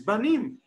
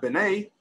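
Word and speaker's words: בנים: That's really, when you want to say the word sons, the proper way to say the word sons is Banim, not B'nai.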